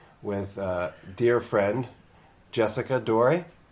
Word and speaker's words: Dore: a dear friend jessica dory pronouncing your last name right i say door we said my family says door but i like dory because i think that's actually what it was originally i think they you